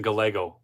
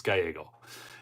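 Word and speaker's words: Gallego: and krie Lake okay I like to call him Ruben Galo just to tick people off but I'll I'll say it right it's gyo anyways uh and Cary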